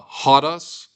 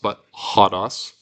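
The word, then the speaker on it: ὁδός: Uh hotos means road. Remember it's got a rough breathing mark here. So we pronounce that not a butos.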